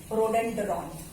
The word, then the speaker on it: rhododendron: और यहाँ का ना स्टेट फ्लावर है, एक स्टेट का फ्लावर का नाम है, थोड़ा सा मुश्किल नाम है, पिंक रोडेंड्रॉन.